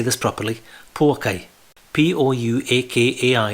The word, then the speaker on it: Pouakai: P-O-U-A-K-A-I is pronounced Pouakai in Maori language, which is the muddy, marshy pools.